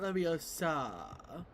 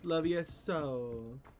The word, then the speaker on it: Levioso: No, it's not Leviosa. It's Levioso. I can't pronounce it how Amarni.